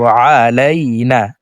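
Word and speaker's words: عَلَيْنَا: প্রিয় দর্শক দেখুন এ আইনকে হলকের মধ্যখান থেকে উচ্চারণ করব। আলাইনা আইন জবর আ লাম ইয়া জবর আলাই নন আলিফ জবর না আলাইনা।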